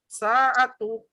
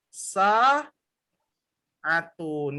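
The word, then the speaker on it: ساعة: saat apa Maaf ya saat tuh ya salah ini harusnya yang benar adalah sah Atun ya Loh kok bisa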